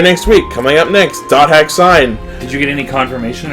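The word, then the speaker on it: .hack//SIGN: we don't know questions which is wrong it's pronounced dot hack sign so when that first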